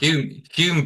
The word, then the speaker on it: Hulme: How do you pronounce it, Dan? Hulme Park? Hume Park. Hulme Hume.